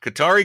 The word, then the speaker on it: Qatar: The accepted pronunciation, according to the Qatari government, Uh-huh. is Qatar.